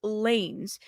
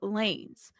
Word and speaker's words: Lanez: And she mispronounced Lanez just like I did when I first saw it. It's saying it Lanez instead of lanes, like traffic lanes.